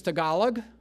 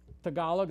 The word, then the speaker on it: Tagalog: the official language is tagalog tagalog that's how you pronounce it that's the official language